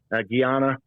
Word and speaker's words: Guyana: You see this war about to kick up with Venezuela and Guyana, or as Americans say, or as we say, Guyana.